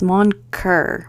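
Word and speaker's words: Mon Coeur: Okay, so this book is wild, and I mispronounced that. It's Moncoeur. Moncoeur? I'm so bad at pronouncing things in French, but it basically means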